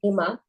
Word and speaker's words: Hema: online with me I'm himma um that's spelled h m a if you imagine a why in the middle of that it's literally hey Ma that's how I say my name uh we have Claudia